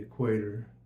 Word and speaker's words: equator: I should say I I say it like a hick the equator it's the equator I put the emphasis on the E okay rinse time left